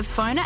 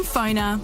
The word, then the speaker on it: Pfonr: Download the Phoner app before you head to your next event. Find people easier, market yourself better, and get connected using Phoner. That's spelled PFONR. Phoner.